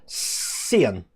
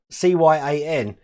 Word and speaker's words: cyan: key that i used to call sian c-y-a-n it's only when i was an adult that people said that it's actually pronounced cyan and trying to pronounce